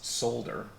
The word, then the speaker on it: solder: beforehand that I was going to pronounce solder like folder and I like solder